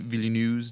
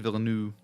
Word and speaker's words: Villeneuve: I think it's Villeneuve. Villeneuve. That's how I've heard it pronounced on like Director Roundtable or But something.